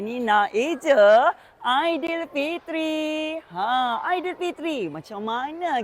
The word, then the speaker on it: Aidilfitri: A I D i L F I T R I Aidil Fitri bukanlah idil kemudian Jarak Fitri ataupun Idul Fitri. Kurang tepat tu yang betul Aidil Fitri.